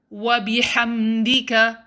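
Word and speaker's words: وبحمدك: two seconds the only letter i want you to focus is ha don't say ha say ha wabi hamdika it's not wabi hamdika rather next make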